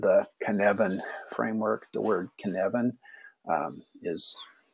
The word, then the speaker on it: Cynefin: Welsh flag and the cabin framework the word kevin is pronounced as I have you straighten it there